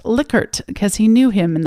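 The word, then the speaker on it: Likert: scale and said that the Man's last name is actually pronounced licker because he knew him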